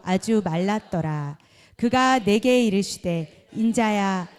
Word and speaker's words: 인자: 그러면 에스겔 이렇게 부르는 게 아니고 인자야. 인자라는 뜻은 뭐예요? 영자가 아니죠? 인자. 발음 조심하셔야 돼요.